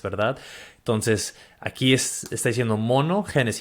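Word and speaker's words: μονογενής: Esa palabra unigénito, dijiste que, ¿cómo lo pronuncias en griego? ¿Monogenes? Monogenes.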